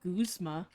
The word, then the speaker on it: Guzma: Also, found out his name is pronounced Guzma. Guzma.